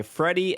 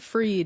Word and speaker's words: Friede: I was pronouncing it Freed in my head, I think. Freed too? Freed. I guess that makes sense. There's not Freddy because the I is there. Yeah, The I should be after the D. And free is a word. Mm-hmm. I mean, it is spelled Friede. Freedy. I'm gonna go with Freed. It's German is the problem, Okay.